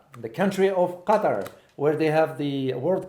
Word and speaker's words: Qatar: for me he said this is how we pronounce it thank you so Qatar the country of Qatar where they have the World Cup right now